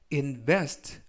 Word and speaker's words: invest: 이번 표현은 invest, invest, invest 라고 발음하시면 되겠고요. 이번에 강세는 알파벳 E에 강세가 있습니다. 그래서 invest 라고 발음하시면 좋겠고요.